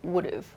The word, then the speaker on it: would've: I would have, and the pronunciation changes to would've, would've. If I had, I would've.